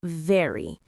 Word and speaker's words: very: Now, let's talk about very. This one is interesting because Chinese doesn't have the VV sound.